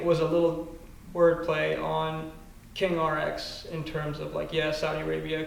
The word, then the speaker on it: King Rx: So to me, it was a little wordplay on King RX in terms of Saudi Arabia, king royalty and pharmacy, but also King Rex is the way that you would mispronounce it.